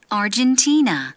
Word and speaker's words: Argentina: Argentina, 네, 헨 아니에요. 아르헨티나. T의 강세 있어요.